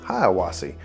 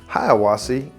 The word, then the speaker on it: Hiawassee: Hiawassee, and yes, that's different from the town of Hiawassee, which Hiawassee, extra syllable in the town.